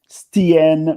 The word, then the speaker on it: Stien: Stien, which is how her name is pronounced, seems to be a capable performer, and